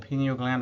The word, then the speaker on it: pineal gland: let's talk about the pineal gland the next block the pineal gland or pineal gland is the way it's supposed to be pronounced it's a another small